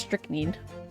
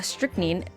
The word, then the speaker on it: strychnine: there three syllables but it's actually just strict need just two because then if there's three syllables then there would be another eye but uh strychnine uh strictly takes some